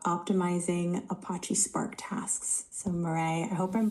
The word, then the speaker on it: Marais: So, Marray, I hope I'm pronouncing your name right.